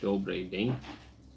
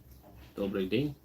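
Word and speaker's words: Добрый день: Dimitri, day, it's pronounced with a Russian E, like in yellow, not English E. Yeah. So, Yeah. So, Dane. Dobry Dane. Dobry Dane.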